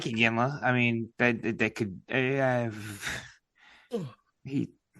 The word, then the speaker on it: Iginla: Yeah, Iginla. How do you pronounce it? Jerome something? Not how you said it. Not how you say it. You had the N and L back.